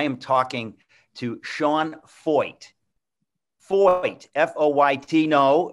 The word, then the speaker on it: Feucht: Feucht, F-O-Y-T. No, it sounds like F-O-Y-T, but it's F-E-U-C-H-T.